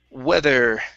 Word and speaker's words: weather: is uh the word weather um okay right here give me a good th in the middle there with weather weather all right very nice